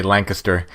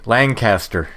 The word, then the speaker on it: Lancaster: Which, if you're from Pennsylvania, or at least from south central Pennsylvania, you say Lancaster, but everywhere else they say Lancaster. Lancaster, right? Yeah. And people say, you pronounce that differently. Like, well, you pronounce it the way the locals do.